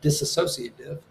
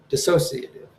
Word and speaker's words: dissociative: And like it's not disassociative, it's dissociative. I had an extra, like, I thought it was disassociative, like disassociate. Not that that's a word, but like, so I had an extra syllable in the word, and I thought was there.